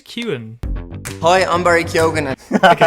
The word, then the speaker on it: Keoghan: with your point about Barry Keoghan Kewan, I think is how you say it, not actually undergoing any Kyogen. development. Like there is no. I think it's Kewan.